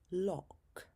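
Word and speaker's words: loch: O as in lock. Lock. a word for a type of lake. This is a Scottish word which is pronounced more like lo.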